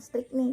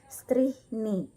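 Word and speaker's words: Strychni: Nah, kemudian CH dibaca H jika diikuti huruf mati. Contohnya strihni, bukan strikni tetapi strihni, gitu ya.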